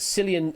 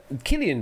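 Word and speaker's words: Cillian: Uh Oppenheimer was known for wearing widebrimmed hats and the one that Silian uh Killian Murphy, sorry, appreciate the pronunciation there.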